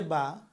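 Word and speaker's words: ب: তারপর আসছে বা। বা উচ্চারণ করেন সবসময় এই ঠোটের দুইটা অংশ। একটা শুকনা অংশ। এই যে এ পাশের আরেকটা অংশ ভিতরে ভিজা। তা বা সবসময় ভিজা অংশ থেকে উচ্চারণ হবে।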